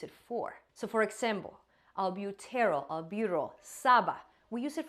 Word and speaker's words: albuterol: And I'm going to exaggerate the pronunciation to make it easier for my teaching, but albuterol, terol.